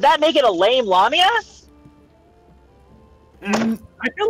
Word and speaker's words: lamia: y is it wait is it lamia or lamia I pronounce it as lamia same yeah who says lamia I mean I mean I mean here's the thing here's the thing like lamia sounds like lame which can also refer to someone who can't